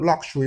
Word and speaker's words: luxury: It can also give us the k and sh together. Look, that's ksh, as in luxury, luxury. And take note of the word luxury. What we've got there is the vowel number 10, not la and not lo.